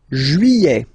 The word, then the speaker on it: juillet: Juillet. Okay, you get this double L here. Juillet. Don't pronounce this final T, E-T here at the end.